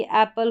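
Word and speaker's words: apple: अब यहां पर देख लेंगे हम पी एल ई का इसको पल करके पढ़ेंगे। जैसे कि एप्पल हो गया।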